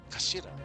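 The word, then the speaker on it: 頭: It's written as head in Japanese, but is pronounced as kashira, I believe.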